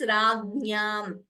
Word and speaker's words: राज्ञां: Note the pronunciation of this. Ragnyam. Like Agnya, Vijnanam, Jnanam. That Jna.